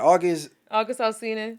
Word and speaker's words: August Alsina: August Alsina.